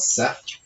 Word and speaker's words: Set: So I just want to say this, Set is spelled Seth in here, but I know from at least two classics professors that it's pronounced Set, so I'm going to continue to say that.